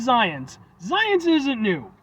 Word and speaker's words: Xyience: It's got an X and a Y. It's Xyience, and they even show you how to pronounce it phonetically with the Z in there.